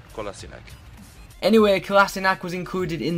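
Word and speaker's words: Kolašinac: boy kassak yeah kassak I used to call him kinich 2 until Arsenal's Twitter released this video this is how you say my name SE kassak anyway kassak was included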